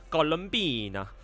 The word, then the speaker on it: Columbina: Oh, okay, so I should pronounce it as Columbina.